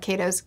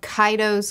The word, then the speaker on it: Kaido's: also i really love the power dynamics of kato's cut of kaido's crew i learned how to say it now